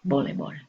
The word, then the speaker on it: voleibol: That's the way a Spanish speaker would hear it and spell it and say it, voleibol. El tenis, obviously a cognate for tennis.